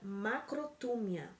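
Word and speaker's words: μακροθυμία: Em grego, eles usam a palavra macrotúmia. Acho que é assim que se pronuncia.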